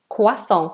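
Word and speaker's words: croissant: people have cappuccino and quason quason French word so we say it with a French accent or do most British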